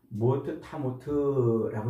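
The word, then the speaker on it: מוֹת תָּמוּת: 이 죽는다, 죽으리라 할 때 2장 17절에서 죽으리라 할 때 이 말씀은 모트 타모트라고 이렇게 발음을 해요. 히브리어로.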